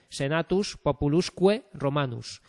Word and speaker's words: Senatus Populusque Romanus: Y la V, esta U que en minúscula se escribe con una V, se pronuncia con la Q, ¿vale? Senatus Populusque Romanus, ¿vale? Esto son vocales largas, ¿vale?